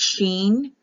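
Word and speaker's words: שין: s or an s i sin c is pronounced like an e so it's sheen or seen so when you go through the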